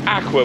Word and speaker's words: Aujaq: owned uh vessel um I believe it's pronounced Aqua but it's not spelled Aqua which means summer and